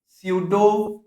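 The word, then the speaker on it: pseudo: स्यूडो force, और स्यूडो नहीं, P silent है, स्यूडो फोर्स.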